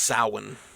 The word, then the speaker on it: Samhain: It's Samhain, but it's pronounced Samhain, which I don't understand how that translates.